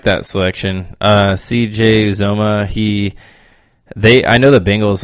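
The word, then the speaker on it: Uzomah: Is that how you say it? Uzoma. Yes.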